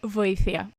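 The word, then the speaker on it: βοήθεια: Voήθia. And of course with more emotion, like voήθia. Okay, it sounds Sorry. more pragmatic indeed, yeah. But the word is like voήθia.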